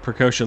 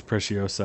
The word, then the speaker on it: Preciosa: All right, Precocia, let's not... I know it's Preciosa, I keep saying it wrong.